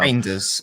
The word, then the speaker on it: Reijnders: So reinders. I was told by a Dutch person it's like reindeer.